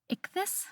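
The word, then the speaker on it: ichthys: I think it was like ickus. It's ic t h ys.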